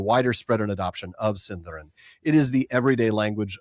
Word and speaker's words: Sindarin: Is it Cinderin or Sindarin or does it depend who you ask? Cinderin. It's Cinderin.